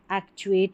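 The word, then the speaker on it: actuate: यहां पर देखिए चुएट पढ़ा और ए सी को एक पढ़ा तो क्या बन गया यह? एक्चुएट। एक्चुएट का मतलब होता है चलाना या सक्रिय करना।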